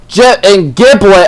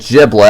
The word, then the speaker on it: Gibl: And Gibl almost said Giblet. I don't know why I'm mispronouncing it. So Gibl, oh my god, I almost said Gibblet again.